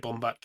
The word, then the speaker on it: Baumbach: Is it Baumbach? Is that how you say his name? Yeah, that's how I'd say it. Bomb back.